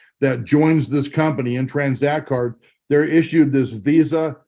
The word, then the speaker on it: Tranzact: impressed the name of our company is called transact card is spelled with a z and what we are